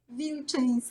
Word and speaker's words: Wilczynska: Wilczynska.